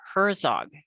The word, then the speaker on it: Herzog: and with me is christopher herzog did i pronounce that correctly you got it okay okay because